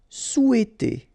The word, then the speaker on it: souhaiter: Souhaiter. Remember, H is not pronounced here, so souhaiter.